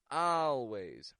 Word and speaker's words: always: end of a word when an American pronounces words with an A and then an L we get the sound ow ow this is an ah sound that quickly goes into an L A few words that